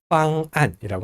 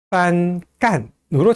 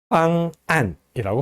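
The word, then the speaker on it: 方案: 빵안이라고 합니다. 빵하고 안, 요 사이에 격음부호가 들어가 있어요. 근데 만약에 격음부호가 없다면은 빤깐으로 잘못 읽을 수 있다는 거예요. 그래서 이렇게 잘못 읽는 것을 방지하기 위해서 격음부호를 붙여줍니다. 빵안이라고 발음합니다. 빤깐이라고 읽으면 안 돼요.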